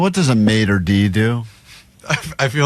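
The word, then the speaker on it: maître d': Well, you're like a maitre d'. Well, I mean, what- you sound like you're from Alabama. Jesus. I was going to cancel that word. Maitre d'. That's how you say it.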